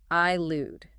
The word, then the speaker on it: elude: Elude. E L U D E. I lude.